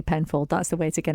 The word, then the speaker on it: Penfauld: And we should say it's spelled Penfold. F-A-U-L-D. So F-A-U-L-D, Penfold.